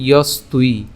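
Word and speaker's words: যস্ত্বি: ইয়স্তুই। কেন ইয়স্তুই? আমরা এখানে দন্তস্ব পর্যন্ত উচ্চারণ করলাম, তাহলে ইয়স, এবং এখানে তয়ের সাথে এখানে আমাদের ব আছে, আর এই বয়ের উচ্চারণটা হবে হচ্ছে উয়োর মতো।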